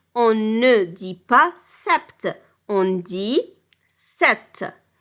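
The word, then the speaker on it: sept: ce 6 7 7 ici on a 7 mais on ne prononce pas le P en ne dis pas Sapt on dit 7 8 ici pour 8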